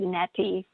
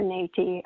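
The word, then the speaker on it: neti: n-e-t-i okay so and you could call it netty or nati um e-e's in sanskrit are pronounced a and what it was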